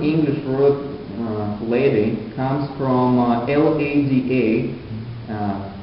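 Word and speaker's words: Лада: The modern English word lady comes from L-A-D-A, pronounced Lada in Russian language, and this is the Indo-European goddess of love.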